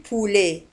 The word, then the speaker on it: poulet: Je mange du poulet. Dajaj huwa poulet. Poulet. Walahidu ala anna poulet. Tuksabe P-O-U. Poulet. Raddidu ma'i min fadlikum. Je mange du poulet. وبولي تنتهي بتي ولا تنطق.